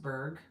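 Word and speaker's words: Bourg: my friend Brenda Berg her last name is spelled b-o-u-r-g but it's pronounced Berg Brenda Berg she has an excellent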